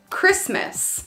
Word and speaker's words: Christmas: having a good time also when the t is in between two consonants except for the letter R all right so for example Christmas the t is in between two consonants S and M Christmas we don't say Christmas we say Merry Christmas Christmas it's not Christmas give me the facts